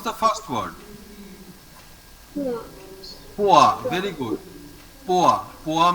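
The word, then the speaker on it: poids: OI, if there is OI inside a word, we simply pronounce it as OA. Remember, OA. How to pronounce OA? OA. Okay, very good. Now pronounce the first word. Poa.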